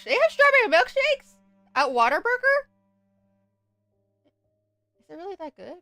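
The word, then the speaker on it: Whataburger: So, Waterburger is a food chain in Texas. It started in Texas and it's a Texas chain. Uh, it's actually what a burger, but everyone in Texas pronounces it water burger.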